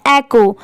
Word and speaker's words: echo: अब बहुत सारे लोग इसके प्रोनाउंसिएशन में कंफ्यूज होते हैं कि इसे एको पढ़े या एचओ पढ़े, क्योंकि यहाँ पर तो एच दिया हुआ है। तो देखिए इसमें पढ़ते टाइम एच साइलेंट होता है, इसे क्या पढ़ा